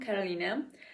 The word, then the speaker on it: Kolina: to my channel uh I am kolina and yeah that that is how you pronounce it uh you call me